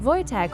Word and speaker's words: Wojtek: Wojtek (pronounced Voytek) was a Syrian brown